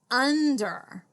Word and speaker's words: under: let's read it together under let's study it what do you notice yeah we have this on you in like in run or sun so that's really helpful